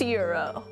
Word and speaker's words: gyro: Like a gyro. It's pronounced Euro.